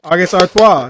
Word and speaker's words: August Artois: How'd you pronounce that? August Artois.